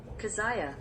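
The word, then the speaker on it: Keziah: pronunciation for that one kazaya okay I'm I'm stupid cuz that just sounds what it it sounds like what it looks like okay um his second one kaziah and his third one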